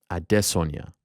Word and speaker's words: Adesanya: Note the pronunciation. Adesanya.